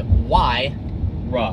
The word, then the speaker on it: Huayra: you but why don't you know it's like why rah rah why rub what are more difficult than